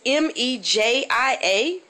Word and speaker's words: Mejia: city i don't know it's m-e-j-i-a don't they sound like magiya not for texas they call it mejia really and what dictionary is that and what pronunciation key what phonetical spelling are they using to call m-e-j-i-a mejia instead of magiya i wonder another crazy